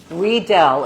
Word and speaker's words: Riedel: Riedel, it's a German company, so the IE Oh. is pronounced E.